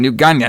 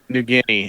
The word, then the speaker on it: New Guinea: reports that she's in new Gana now all right or newa did I say it right now newa New Guinea it's New Guinea New Guinea whatever bro I'm already